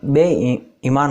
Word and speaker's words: बेईमान: बेईमान, बेईमान, इसका बेईमान का शुद्ध उच्चारण बेईमान होगा, जिसका कोई ईमान नहीं हो।